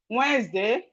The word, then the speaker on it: Wednesday: So when you are writing any word, compound word that have D in the middle, just know that the D is silent when you are pronouncing it.